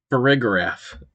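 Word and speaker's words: Farigiraf: already forgot how to pronounce it hold on paragraph that's how you pronounce it I'm I'm just gonna call this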